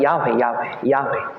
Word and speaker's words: Yahweh: Sa Hebrews, Yahweh. The pronunciation kay Yahweh.